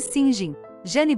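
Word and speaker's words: St John: estão esperando por alguém chamado Saint John pronuncia-se sjin Jan bate na porta mas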